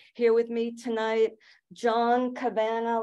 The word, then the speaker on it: Cavanagh: with me tonight John Cabana last name rhymes with banana for some reason that